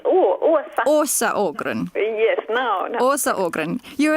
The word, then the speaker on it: Åsa Ågren: I'm Juka, and today my guest is Åsa Ågren. Did I pronounce it correctly? No, you didn't. It's Åsa. Åsa Ågren.